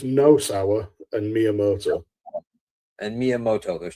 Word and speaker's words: Nosawa: How do you say that Asian guy's name? Nasawa? So it's Nosawa and Miyamoto.